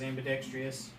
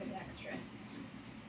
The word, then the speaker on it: ambidextrous: one of the times in my life I wish I was ambidextrous. I think you added a syllable. Huh? It's ambidextrous. It's the same thing.